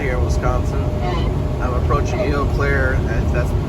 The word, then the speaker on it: Eau Claire: I'm approaching Eau Claire, and that's how it's pronounced perfectly.